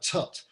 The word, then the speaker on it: toot: early on, really, that the word tut, it's spelt T-O-O-T.